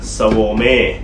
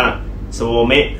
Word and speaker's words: Svolme: ครับ แล้ว ที นี้ ชื่อ ว่า swarm เอ้ นะ ครับ หรือ อ่าน ว่า โซ เมะ ก็ ได้ ครับ เอ่อ สำเนียง ญี่ปุ่น เป็น